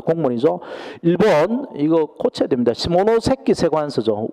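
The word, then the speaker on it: 下関: 시모노세키 세관서죠. 원어대로 써야 되는데 우리나라가 일본을 저기 좀 무시하니까 원산지 발음을 안 해주죠. 한자 표현을 그냥 하관이라고 하관. 시모노세키입니다.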